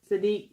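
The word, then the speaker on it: Sadec: how you say it, Sadek or Sadek, whatever, S-A-D-E-C. What'd you say? Sadiq. Sadiq. My daughter says it's Sadiq.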